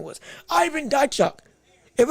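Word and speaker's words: Dychko: It's going to be, unless it's a robbery of the, like we saw with Jermaine Franklin beating Drycock, what's his name?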